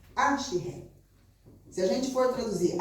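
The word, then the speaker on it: אשרי: Ashiré. É a pronúncia. Ashiré.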